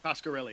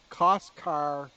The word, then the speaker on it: Coscarelli: Coscarelli, yeah. Coscarelli. Coscarelli. Coscarelli. Yeah. Coscarelli.